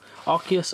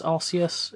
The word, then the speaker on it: Arceus: but okeus Indiana General Arceus osseous it it doesn't matter how you pronounce it I I accept all so we have two